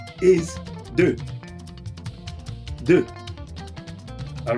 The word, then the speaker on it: deux: 2 is deux. Deux. All right. 3 is being pronounced as trois.